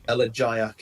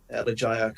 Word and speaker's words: elegiac: check the pronunciation on, whether it's a soft or a hard G. It's a soft G. Elegiac. It's a hard G. Elegiac, relating to or characteristic of an elegy.